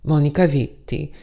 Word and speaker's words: Monica Vitti: So how did I discover lovely Miss Monica Vitti? And I really want to say it like that because it sounds better.